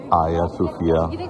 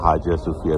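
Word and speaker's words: Hagia Sophia: तुर्की के शहर इस्तांबुल में मौजूद आया सूफिया, जिसे एक और प्रोनाउंसिएशन में हाजिया सूफिया भी कहते हैं, ये अब एक मस्जिद है।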